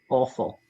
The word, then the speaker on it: offal: Offal is liver, kidney, all of those parts are collectively known as offal. And it's a funny name because is that why it's spelled awful? Offal, yeah, like kidney pie.